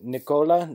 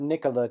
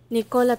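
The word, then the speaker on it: Nikola: other dialects I've offended it is Nicola not Nicola Tesla and it is pronounced phonetic how would you know it's not like your name is oh can't argue with that just for reference here's the correct way to pronounce it Nica Tesla will the thickness of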